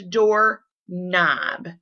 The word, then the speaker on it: doorknob: I'm wrong, there is door knob. All right, you do not hear the K in the middle.